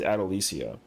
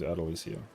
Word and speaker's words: Adalisia: Yeah, my character's name pronunciation is is Adalisia. So, um, but everyone just calls her Adele because it just it just rolls off the tongue easier. But yeah, her her pronunciation is Adalisia.